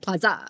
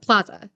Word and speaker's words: plaza: And she was like, so she said plaza or something like that instead of plaza. She put like the emphasis on the second syllable.